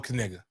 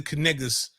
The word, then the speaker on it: Knigga: don't know what the Kniggas stand for. These Kniggas stand on business. Well, we thought the K was silent. Luckily, it's not.